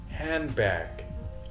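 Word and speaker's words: handbag: زي ما احنا ملاحظين الدي في اخر كلمه هاند مش منطقها، ليه؟ لان في حاجه اسمها لحم الكلام او كونكشن، ربط، فاقول هاند باك بحيث نطق الكلمه مش يبقى ما يبقاش هزي.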